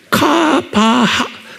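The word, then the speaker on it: קוה: 히브리 말로 뭐로 됐냐면 쿠, K가 아니고 Q예요. 그러니까 발음을 Q예요. 카바하, 이거 H에 하, 그러니까 카바 이렇게 되면 카바 이렇게 하는 거예요.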